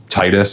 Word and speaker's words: Titus: And I mean like I also know like uh like uh Titus I know it's supposed to be pronounced Tetus but I'll never say that.